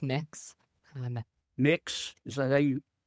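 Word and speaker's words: Mx: were about learning not graphic sexual content it's pronounced mix mix is that you how would you like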